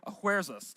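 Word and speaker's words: Ahasuerus: earlier will say Xerxes others will say oh where's us that's the Hebrew uh pronunciation of his name and it sounds to a Hebrew speaker it would sound a little bit like King headache now I don't think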